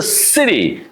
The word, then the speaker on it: city: gl in the beginning is a S sound. Why? Because right after C it's the rule like if you see three sounds after C E, I or Y. So then we pronounce C as a sound. So it's a city.